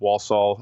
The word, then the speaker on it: Walsall: And in addition to working in wrestling, I know that you also do some work with Walsall. Am I pronouncing that right?